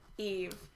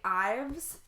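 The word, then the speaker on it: Yves: Well, and I've mentioned this before too, but I cannot mentally get past Eve. Like, every single time I want to say Ives so much because the Y-V-E-S I immediately think of as Ives and not Eve.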